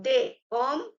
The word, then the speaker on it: des: So they, s, we have to put a s to make it plural. So they but it will be silent. We are not going to read it or pronounce it.